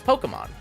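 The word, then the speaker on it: Pokémon: of the franchise itself it's Pokemon like po poke pocket monsters on Pokemon yo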